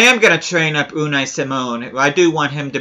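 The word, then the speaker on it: Simón: and a lot more or C Mon as it probably should be pronounced but I am gonna train up unnai Simone I do want him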